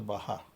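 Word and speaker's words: Baja: BAGA is pronounced as Baha.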